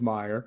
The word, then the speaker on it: Meyer: I keep I keep screwing you up because it's it's not mayor, it is Meyer.